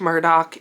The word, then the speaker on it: Murdaugh: importance of the name Murdoch Alec Murdoch is pronounced Alec Murdock but if you were pronounce it phonetically it